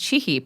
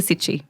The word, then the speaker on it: Cichy: And it's pronounced Cichy, but we changed it to Cichy for Western purposes.